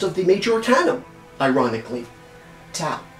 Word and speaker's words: Tau: Tau, T, or number, or, oh, by the way, it could be pronounced Tav as well.